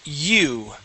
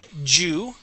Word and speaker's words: you: all right good job let's practice your your why sounds okay so for example with the word u okay we wouldn't say Jew yeah all right uh